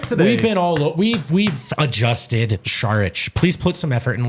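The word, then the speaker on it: Šarić: By the way, Harrison is the only DNVR guy who pronounces Dario's last name correctly. I thought I did it right today. We've adjusted Sharich.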